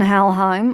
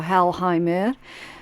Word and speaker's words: Helheim: right Burano inas and helheim or halim depending on what region you're pronouncing it from um yeah that's the